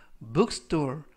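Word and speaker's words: bookstore: 이라고 바로 하시면 되겠구요 이때도 알파벳 t 는 약간 강하게 하셔서 트 보다는 뜻 스 뜻 그래서 벅스 돌 이라고 발음 하시면 더 좋겠습니다 품사는 명사 뜻은 서점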